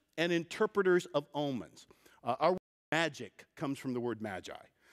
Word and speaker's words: Magi: Magus or Maggie and Magus or Maggie we pronounce it Magi is a Persian word so what that means